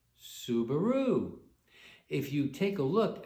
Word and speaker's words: Subaru: recognize the name because pleiades in japanese is pronounced subaru if you take a